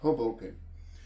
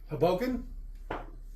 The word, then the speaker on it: Hoboken: Hoboken. That's what I said. Haboken. If you want to butcher it, you could say it that way. Just sounds like it sounds like you're saying it wrong, even when you're saying it right.